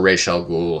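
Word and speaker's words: Ra's al Ghul: he pronounced it um i liked the pronunciation of reish as opposed to raz because raz is just it doesn't sound uh you know kind of for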